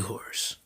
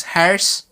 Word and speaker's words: hoarse: is gonna be real hoarse. Really? Is that how you say it? Hoarse? Harris? Harris? Like my mom says. She doesn't know English, so she says Harris instead of horse.